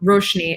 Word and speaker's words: Roshni: The A is actually silent. Don't worry at all. So it's technically Roshani or Roshni if I didn't read correctly or I got a bad grade on something.